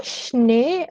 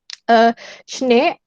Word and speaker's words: Schnee: Kalau kalian di SCH ini, Schere, Schnee, und schön. Schön. Schnee, bahasa Jerman, kalau ada 2 E, berarti E bacanya. Schnee, E-nya gede gitu.